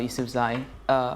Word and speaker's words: Yousafzai: How do I pronounce her surname? Yousafzai.